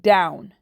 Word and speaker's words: down: part of the word these two letters work together to say ow ow so when you're reading